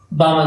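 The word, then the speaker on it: Balmer: Second बनाया जाता है बामल सीरीज, एल साइलेंट रहता है।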